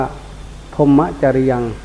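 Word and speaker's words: พรหมจริยะ: ของ พุทธศาสนา เลย คือ พรหม จริยะ ออก เสียง บาลี ว่า พรหมจริยา ลูก หลาน จำ ไว้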